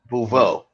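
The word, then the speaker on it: Beauvais: How'd she pronounce her last name? Bouveau.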